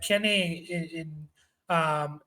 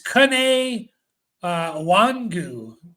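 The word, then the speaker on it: Kene Nwangwu: They have Kenny in Wagyu. I forget how to say the name. It's Kene Wangu.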